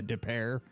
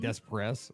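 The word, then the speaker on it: Des Peres: you don't know that it's like a depair and it's spelled d s p r s and if you're not from here it's like Des press like no dude it's depair you know it's like you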